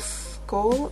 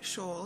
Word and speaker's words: Shoal: Her name is Amber, is it Skull or like basically school? I am so sorry, Shoal. Her last name is Shoal.